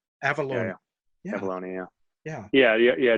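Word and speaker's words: Avallone: is you and um I'm gonna try to pronounce David's last name David Avalon uh avalone avalone avalone yeah yeah yeah yeah yeah David avalone is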